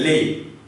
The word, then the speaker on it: les: So by now you have learned that the last consonant is mute. So you will write it but you will not pronounce it. So you will read as lay, which means the, article the.